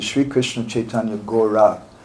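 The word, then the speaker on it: Gaura: It's not spelled G-A-U-R-A, which is the way it's usually spelled when we transliterate. But this time it's spelled G-O-R, long A. And what is that? Gora, spelled in that way, means the same as Gora. But it has another special kind of meaning.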